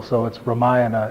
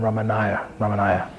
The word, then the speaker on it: Ramayana: As we said before, you stress the antepenultimate syllable, so it's Ramayana. It would be a closer approximation of how to say it, rather than Ramanaya.